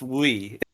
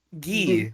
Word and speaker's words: Gui: this is Wee. Guy, Yui? Gi. Yeah, Gi. Gi? short for Guillaume.